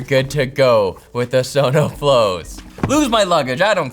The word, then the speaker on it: SonoFlow: You could also pronounce it son of a flow if you want, but don't do that.